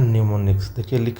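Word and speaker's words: mnemonics: बात कर रहा है न्यूमोनिया है एम से लेकिन एम साइलेंट होता है न्यूमोनिया अब आता है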